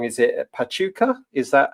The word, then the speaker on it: Pachuca: Is it Pachuka? Is that how you pronounce it? Yeah. Yeah. So Pachuka in Mexico and that is um just to the northeast of Mexico City.